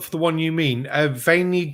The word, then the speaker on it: Vendée: Yep, it's Vendée. It's French.